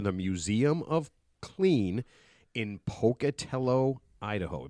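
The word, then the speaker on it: Pocatello: He is the museum director for the Museum of Clean in Pocutello, Idaho. Am I saying it right, Pocutello? You are. Most people don't, but that's very good. You did you did well.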